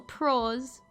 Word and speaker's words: prose: It's pronounced like you'd call a professional pro, but plural. Prose.